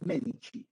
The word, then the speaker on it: Medici: el Duce, en italiano, cuando tú veas la letra C, esta C se pronuncia como che. Entonces, por eso se pronuncia los Medici, ¿bien?